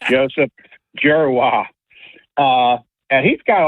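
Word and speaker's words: Dzierwa: So, I don't know how you get out of D and Z, you get a J, but that's how it's pronounced. Joseph Gerwa.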